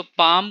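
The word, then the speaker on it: palm: जाएगा हमारा पं सो पं को हम लिखेंगे पी ए ल एम राइट यहां पर साइलेंट है जो ल आप देख रहे हैं यह आपका साइलेंट है तो यहां पर भी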